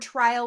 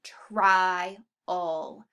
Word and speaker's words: trial: And then that word trial, we have two vowels that are split because we hear the I and the A, trial. That L does change that A sound just a little bit, but we hear it, trial.